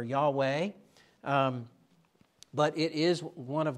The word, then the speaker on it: Yahweh: We aren't pronouncing it properly. We're giving the anglicized version of it because we can't speak Hebrew and we can't get those guttural sounds that we need to get for Yahweh.